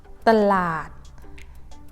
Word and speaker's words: ตลาด: That means you need to pronounce as ตะ and add หอยหีบ ตลาด with low tone both ตลาด what about this?